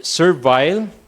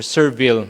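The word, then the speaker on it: servile: So you pronounce it uh either survile if it's uh British or Serville if it's American pronunciation.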